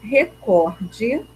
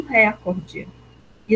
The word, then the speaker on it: recorde: porque muitas pessoas falam Record e não é a pronúncia adequada é recorde tá porque Qual é a sílaba tônica dessa palavra ó é um pó ela é paroxítona tá ela não é proparoxítona Tá bom então a